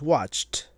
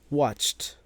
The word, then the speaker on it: watched: So if it has that ch sound at the end, then it will have a voiceless t sound with the ed, like reach becomes reached, reached, reached. Next up, watch becomes watched, watched, watched, watched.